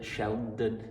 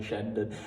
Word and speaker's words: Shandon: right so here are the bells of shend Sheldon Sheldon Shandon I keep getting the name wrong so on every clip I'm calling it